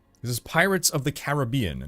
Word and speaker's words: Caribbean: So I always used to pronounce it Caribbean. But then I always hear people saying Caribbean. So I'm like, oh, I guess I'm wrong. Hey, cheers, Kicker. It is the second, so it is Caribbean.